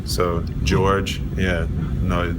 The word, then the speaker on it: Georges: The S is silent, like Des Moines, so George.